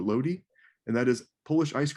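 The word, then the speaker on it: lody: There's one thing in particular that I think is important, and that is, I believe the pronunciation is Lodi or Lodi, and that is Polish ice cream.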